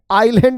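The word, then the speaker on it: island: ही नहीं है आइस आइसलैंड को ही आ आईलैंड बोल देते हैं उसमें एस साइलेंट होता है साक्षी अब तुम्हे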